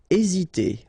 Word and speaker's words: hésiter: Hésiter. Okay, remember that H doesn't exist, so we don't pronounce it, and the first thing you will pronounce is this vowel here, E accent aigu, E.